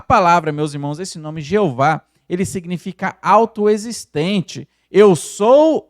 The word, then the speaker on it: Jeová: ou eu sou é Jeová e ela aparece na Bíblia 6.823 vezes então um nome muito usado no antigo testamento meus irmãos uma curiosidade a pronúncia Jeová ela Surgiu da junção